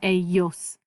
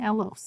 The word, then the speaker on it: ellos: That double L says ya.